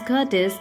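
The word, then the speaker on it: courteous: word is curtis curtis the r is a kind of silent over here in a british pronunciation so the person's curtis it is very humble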